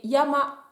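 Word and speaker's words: 山: Quand on parle d'une montagne, ça va se prononcer yama, yama pour la montagne.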